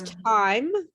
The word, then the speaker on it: time: here tim okay it's time it's time to go to your room and remember that time that e is silent okay that was last